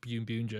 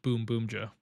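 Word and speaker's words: Boonboomger: buun buer his comments people saying it's not pronounced buun buer it's pronoun boom Boomer and that continued every single week and I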